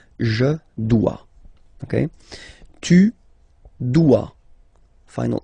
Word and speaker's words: dois: Je dois. Okay, remember final S is not pronounced. Je dois. OE, when you combine the two, you get the sound wa wa wa. Je dois. Okay, tu dois.